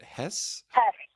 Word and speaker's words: Hesse: his name, but Tyson, is it Hesse or is it Hess? Hess.